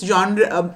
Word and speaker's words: genre: The first is film genre, which means genre, is a French word. It's pronounced like that.